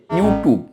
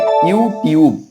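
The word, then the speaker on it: YouTube: সঠিক উচ্চারণ হল ফেসবুক ওয়াই ও ইউ টি ইউ বি ই এটার উচ্চারণ অনেকেই করে ইউটিব আসলে এটার সঠিক উচ্চারণ হবে ইউটিউব জিই এমই এন আই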